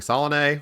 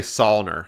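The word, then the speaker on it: Saulnier: uh it's made by Jeremy Solen which I think I said that right I used to say sner but I feel like I learned somewhat recently that that is the incorrect way to say it but the guy who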